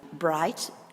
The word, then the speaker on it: bright: example I had earlier bright where was it here bright 3 b r i g HT the GH is not pronounced so in that case